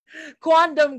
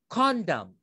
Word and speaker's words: quondam: But guys, you would need to pronounce it as quondam. Quondam, okay? Some students, believe me, in the coaching room, they have already pronounced it as condom. Condom. It sounds like a condom, okay?